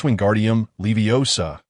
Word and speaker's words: Wingardium Leviosa: It is Wingardium Leviosa, with the gar part elongated and clearly articulated. Don't rush.